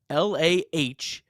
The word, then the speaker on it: Littell: Baseball Reference says LAH-TELL. Okay, so Littell.